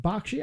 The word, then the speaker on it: Bakshi: Is it Bakshi?